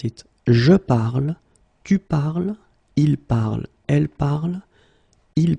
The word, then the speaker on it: parles: So it does mean that even if you write them differently, es, and then ent, you will pronounce them the same way.